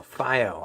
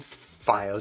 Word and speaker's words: FiiO: This is Super Review and this is the FO FO Fio, however you'd like to say it, FD3. So earlier this year, I reviewed FiOS. I'm going to call I'm going to stick with Fio. You pick whichever pronunciation you prefer, but uh earlier